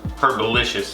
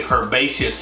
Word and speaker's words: herbaceous: i keep on uh i keep pronouncing it wrong if you want to say her herbalicious it's actually herbaceous hand herbaceous hand delicious